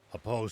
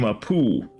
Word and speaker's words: Apo: Apo's son, eh? I see. Very well, then. I always used to pronounce his name Apu. It was Apo?